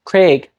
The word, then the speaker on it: Craig: like this and then other people might not have a d thong there at all it'll start as the sound in vowel one and just not change resulting in a pronunciation like Craig so when vowel one